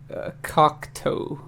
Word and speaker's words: Cocteau: But no, my 90s album is by a band called the Cocteau Twins.